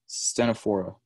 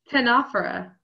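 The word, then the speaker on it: Ctenophora: to pronounce this uh stena for oh yeah okay wait what ten opera can can offer opera the C is silent sneaky C right thank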